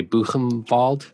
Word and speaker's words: Buchenwald: Do you say Buchenwald? That's how you pronounce it, right?